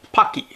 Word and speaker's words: Paqui: Oh, and it's rhymes with hockey, Paqui. So it's Paqui.